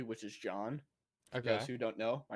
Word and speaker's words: John: i know and because in uh spanish language uh j sounds like an h so that's why instead of saying uh jesus they say jesus so they kept saying my name because they can't say john oh yeah so instead